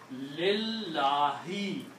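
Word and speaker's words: لِلّٰهِ: Number two, this kills the sound of this alif here. Okay? So when the sound of alif is gone, then you pronounce lillahi.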